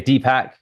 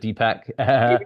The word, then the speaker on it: Deepak: wrong no it's okay dpack so like two pack but dpack and then the last